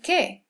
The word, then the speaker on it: qué: Next we have Q, which is always accompanied by U, as in ¿qué? ¿Qué pasa? Queso. It always makes that K sound. We'll never pronounce qua, as in queen. It'll always just be K.